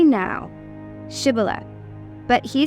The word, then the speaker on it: Shibboleth: If he said no, then they would say to him, "Say now, Shibboleth." But he said, "Sibboleth," for he could not pronounce it correctly.